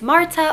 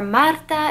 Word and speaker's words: Marta: If you're new here, my name is Marta, or Marta if you can roll your R's, but either way is fine.